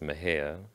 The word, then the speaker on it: Mexia: It's pronounced Mejia. But it's spelled like Mexia, so often people make that mistake.